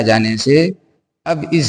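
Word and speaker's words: سِ: ज़ेर के मात्रा के आ जाने से अब इस सीन को इ के रूप में के रूप में सी पढ़ेंगे।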